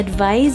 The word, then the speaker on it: advise: Ang advice ay binibigkas natin na may Z sound sa hulihan. Halimbawa, I advise you to study hard for the exam.